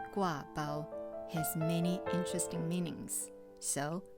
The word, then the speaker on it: gua bao: mentioned previously the name gua bao has many interesting meanings so i want to share with you first of all guava is a taiwanese dialect pronunciation it's not official mandarin chinese but it's the most